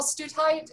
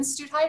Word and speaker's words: Stutheit: So today is September 10th in the year 2020, and I'm sitting here today with Wil Stutheit and Lynn Stutheit. Is that, did I pronounce that correctly? Right.